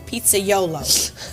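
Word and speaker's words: pizzaiolo: today that a pizza man is called a pizza YOLO am I saying it right yeah he did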